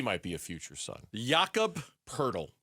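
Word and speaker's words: Jakob Poeltl: Yakob Purle. Purle rhymes with turtle.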